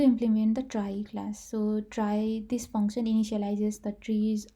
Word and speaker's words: trie: question is saying is a try pronounces try or prefix tree is